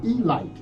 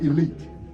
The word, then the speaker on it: Elite: team called the Baltimore Elite Giants. Now it's spelled elite, but it's pronounced elite. Yeah, you make those Negro Leagues mad if you call them the Elite Giants.